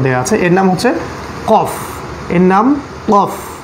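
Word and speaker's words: قاف: আমাদের ফায়ের উপরে একটা ফোঁটা ছিল, এখানে দুটো ফোঁটা দেয়া আছে, এর নাম হচ্ছে কফ, এর নাম কফ। কফ উচ্চারণ করতে হবে আল জিবের গোড়া থেকে, আল জিব অর্থাৎ ভিতরের জিব, এর গোড়া থেকে উচ্চারণ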